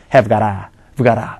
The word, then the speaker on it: got to: 식의 축약형으로 주로 쓰인다 발음 할 때는 더 간단하게 해서 가라 가라 이렇게 한다는 얘기죠 그게 바로 축약형 얘기였습니다